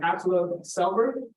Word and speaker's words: Atle Selberg: He came from Norway, and Viggo Brown also came from Norway, and his name is pronounced as Atle Selberg.